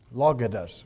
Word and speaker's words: logos: Now, this word here is pronounced logos, which is almost, that's what our word logic comes from.